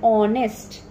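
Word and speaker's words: honest: अब कुछ वर्ड जैसे ऑनेस्ट, आवर, अब इन वर्ड्स में एच हमारा साइलेंट होता है. हम कैसे बोलते हैं ऑनेस्ट, आवर, तो हमको क्या सुनाई दे रहा है?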